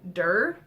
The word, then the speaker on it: Derr: But the author's name is Megan Derr, I think is how you say it. It's Derr.